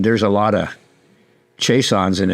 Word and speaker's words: Chaisson: there's a lot of Chaissons, and it's pronounced Chaisson in French Canada and in Louisiana.